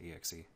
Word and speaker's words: exe: on the exi do many people pronounce it xie like I sometimes do but I usually say exe I don't know I